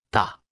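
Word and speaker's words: 大: repita en voz alta ta ta ta ta ta ta ta se pronuncia con el cuarto tono recuerdas cómo se dice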